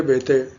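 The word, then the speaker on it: Béteille: अगर पूछा आंद्रे बेते इनका प्रोनाउंसिएशन बेते हैं क्योंकि इनके फादर फ्रांस के थे और इनकी मदर जो थी ना वह कोलकाता की थी। ठीक है? इंडियन थी इसलिए इनका नाम आंद्रे बेते हैं। इस तरह से प्रोनाउंसिएशन होता है।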